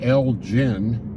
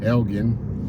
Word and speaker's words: Elgin: to Elgen this morning a lot of people pronounce that town Elgin but actually the people that live there it's Elgin gin Elgen just East Austin uh